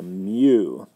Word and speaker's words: mu: about that briefly so mu this is called mu here how I pronounce that mu not a you it's not a you with the elephant trunk it's a Mew it's a unitless quantity so when you look